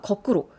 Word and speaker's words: 거꾸로: 없다고 보셔야 돼요 그러니까 거꾸로 여기 지금 첫음절 거 거기에 첫소리 기억 된 소리 아니죠 그럼 된 소리로 날 가능성이 없는 겁니다 거꾸로고 발음하지 않도록 주의하셔야 돼요 많은 농민들이 땅을 금쪽같이